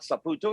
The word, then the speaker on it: Saputo: playing in Saputo Stadium start Saputo if you want to say it correctly up in Montreal has